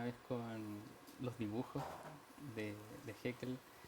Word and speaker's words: Haeckel: Muy bien, Oscar, hay un autor interesante, quiero pronunciarlo bien, Haeckel, ¿no es cierto? ¿Está bien o no? Sí, Haeckel.